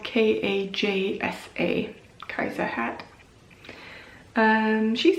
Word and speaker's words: Kajsa: It's the Kajsa hat. The pattern is by Sarah Stark, and that's spelled K-A-J-S-A, Kajsa hat.